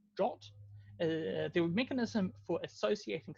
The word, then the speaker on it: JWT: So JSON Web Tokens, or JWT, pronounced JOT, they're a mechanism for associating some number of claims with a REST endpoint.